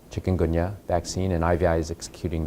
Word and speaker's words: Chikungunya: Chikungunya, am I pronouncing that right?